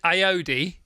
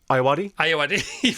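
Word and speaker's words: Ayoade: Lou Sanders, Sarah Pascoe, Joe Wilkinson, Harriet Kemsley, Richard Iodi. Ayawadi?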